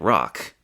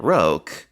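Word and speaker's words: Rocque: He pronounced it rock.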